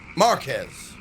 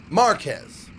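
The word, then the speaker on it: Márquez: an accent on it you emphasize the ah sound marquez oh instead of marquez it's marquez like japanese pronunciation of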